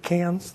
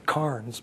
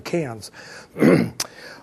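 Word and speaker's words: Cairns: brisbane and so on and cans notice i pronounced that correctly cans they beat that into me too i still say it should be carns but they want to insist on cans but i can do that so what we've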